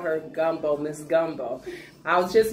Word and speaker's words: Gumbo: See, she says I am not pronouncing gumbo right. It is gumbo. Gumbo.